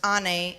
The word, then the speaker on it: Anne: My name, Anne, pronounced Anne, is the Turkish word for mother.